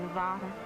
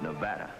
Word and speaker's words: Nevada: You dance very well for a man from Nevada. By the way, that's pronounced Nevada. I notice you give it the broad ah. I prefer it to a dreadful flat ah. Only the dreadful flat ah is correct.